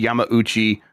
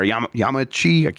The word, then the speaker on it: Yamauchi: Miyamoto was asked what former Nintendo president Hiroshi Yamauchi, or Yamauchi, I'm not supposed to pronounce the U, I don't know how to say it, would think of Switch 2 sales.